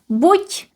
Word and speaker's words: buď: So we have two options and we use buď in one part, buď, pronounced as t, buď, and the other one is nebo.